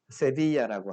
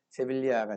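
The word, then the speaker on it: Sevilla: 지금 세빌리아에 이발사라고 들어보셨나요 스페인 발음으로는 세비야라고 하고 이걸 이제 뭐 영어식으로 발음하면 세빌리아가 되는데 세비야 지방에서는 정말 거국적으로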